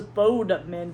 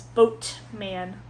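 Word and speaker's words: Boatman: I thought it was Bode men. B O D E M A N. It's boat man.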